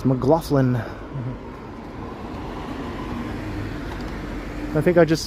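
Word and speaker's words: McLaughlin: I used to say McGlaughlin and then I looked at how it was spelled and I was like, "Oh, I've been saying it wrong all the time." I think it's Mlofflin.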